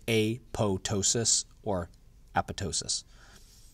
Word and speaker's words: apoptosis: the word that says apoptosis but whenever you see a PTO it's pronounced to' so it's a PO ptosis or apatow --ss so you don't say the P the cancer cells that